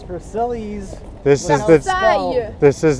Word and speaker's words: Versailles: something 14th 14th now I think you mean to pronounce it Versace no it's veril this is the this